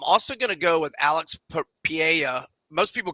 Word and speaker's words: Pereira: gonna go with Alex Pia most people call him Pereira but the r is not pronounced in Portuguese um whoa interesting John